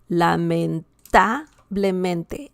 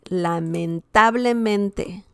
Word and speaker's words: lamentablemente: And the last one, guys, the last word is lamentablemente. Lamentablemente. Lamentablemente. And that means unfortunately. Okay? Lamentablemente. We see the stress here. Super stressed syllable. And this was 1, 2, 3, fourth to last.